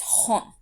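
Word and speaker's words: 本: Any other times, any other numbers, this kanji is pronounced as hon.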